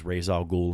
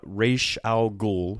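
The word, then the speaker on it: Ra's al Ghul: I would for decades I probably just sort of pronounced it as razal ghoul and went sort of bliss ful unaware that there were different ways to pronounce it and that that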